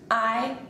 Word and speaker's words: hay: Just remember, the H is silent.